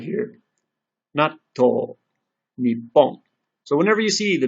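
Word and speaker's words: にっぽん: So we have bikkuri, kissu, natto, nippon. And it may not seem like a big deal, but getting the pause in is very important because you might inadvertently say a different word, or someone might not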